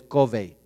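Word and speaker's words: Covey: Steve covy Steven covy el autor es covy Okay se escribe c o v i e y el apellido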